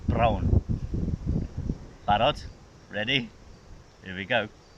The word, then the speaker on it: brown: And it sounds nearly the same in Welsh. You've got to roll your R like a motorbike. Brown.